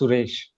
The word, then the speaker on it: Suresh: saris trainer didn't i it is actually pronounced suresh right now i need